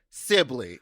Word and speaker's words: Sibilly: Uh very exciting episode today with a a lovely man named Johnny Sibi. Sibi is how you pronounce it and you kept pronouncing it wrong the whole time.